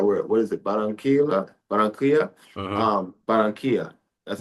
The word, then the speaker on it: Barranquilla: Barranquilla. That's how You you got it. pronounce That's it right Barranquilla.